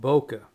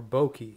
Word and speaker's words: bokeh: There's another term called bokeh, or bokeh, or bokeh. It's spelled kind of funny, but B-O-K-K-E-H. And it's a Japanese word, I think, for beautiful blur.